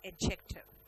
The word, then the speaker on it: adjective: This word beatific is an adjective. ठीक है? Adjective नहीं बोलते ना, adjective बोलते हैं। वहां पे D साइलेंट है।